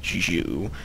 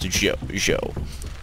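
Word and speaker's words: Zhou: originally I thought I thought that it was pronounced XU but my Chinese friends have corrected me and said that it was actually pronounced Z they currently have the Mandate of Heaven which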